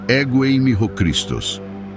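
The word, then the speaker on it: ἐγώ εἰμι ὁ Χριστός: A expressão Eu sou o Cristo é pronunciada ego eimi ho Christos.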